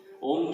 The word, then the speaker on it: ओम: जब ओम का उच्चारण आरंभ किया जाए तो ऐ की ध्वनि कंठ से निकलनी चाहिए। और यह ध्वनि ऊ की ध्वनि से मिलाकर तालु के शिखर पर पहुंचा देनी चाहिए। और अंत में मैं की ध्वनि इनमें सम्मिलित कर होठों को मिलाकर उच्चारण करना चाहिए।